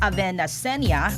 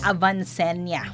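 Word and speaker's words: Avanceña: na si Ricky Quezon Avenacenia apo ni dating pangulong Manuel Quezon ang pelikulang Quezon. Itama ko lang yung pronunciation Ricky Quezon Avancenya.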